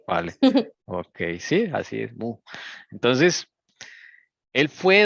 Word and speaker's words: Meaux: Este Meaux se pronuncia Mou. Esto es francés. Así es el francés, un montón de letras para decir Mou.